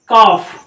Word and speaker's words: calf: जैसे हम लिखते हैं CALF, क्या पढ़ते हैं इसको। अब इस वर्ड को हम पढ़ते हैं कॉफ, इस वर्ड को हम कॉफ पढ़ते हैं, यहाँ पे एल साइलेंट है।